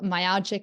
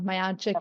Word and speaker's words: myalgic: is now you know myalgic and I always pronounce it wrong myogic and so yeah yeah